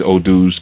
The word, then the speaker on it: Odu: That mathematic, it expresses itself through something that we call Odu, which is spelled O-D-U, Odu.